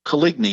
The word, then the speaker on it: Coligny: gaspard de kolini and pronunciation equates to colligny in english and he was the